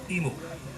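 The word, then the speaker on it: imu: the U ceremony now emu is spelled I AMU meaning Cooking Pit or underground oven but sounds sort of like the U bird uh we're cooking a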